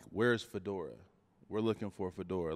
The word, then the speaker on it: Fa'dorah: a bathroom and the locals were like where's Fedora we're looking for Fedora like is he coming